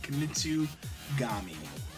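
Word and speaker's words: Kunitsu-Gami: Kamitsugami.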